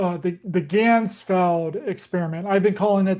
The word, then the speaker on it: Ganzfeld: Uh the the Ganzfeld experiment. I've been calling it the Handsfeld experiment, but I got so much stuff that